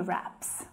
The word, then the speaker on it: wrap: Wrap and rap are pronounced in exactly the same way. The W is silent.